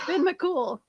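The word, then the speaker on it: Fionn mac Cumhaill: The hero's name is pronounced Finn McCool.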